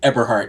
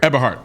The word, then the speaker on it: Eberhart: But how do I go about pronouncing it? Yeah, Eberhart. Eberhart. Okay. Eberhart.